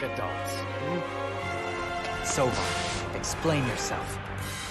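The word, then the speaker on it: Seofon: Sovon? Oh, that's how you say his name. I think that's the first time someone said his name out loud. Sofon. Like sofa.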